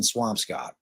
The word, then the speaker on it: Swampscott: I mean, if you don't pronounce that Swamp Scott, all you Massachusetts people can go blow it out your ass because it's got to be Swamp Scott. It's got to be Swamp Scott, right?